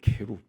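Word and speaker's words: כרוב: 왜 성경에 그룹이라고 번역이 돼 있느냐 하면은이 원래 히브리어 발음이 케루이에요. 케룹.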